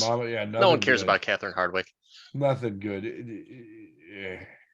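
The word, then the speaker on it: Hardwicke: one cares about Catherine Hardwick nothing good yeah isn't it hard Wiki if you're pronouncing every single letter Hardwick um either way I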